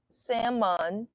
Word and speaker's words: salmon: Salmon. The salmon. Salmon. The L is silent.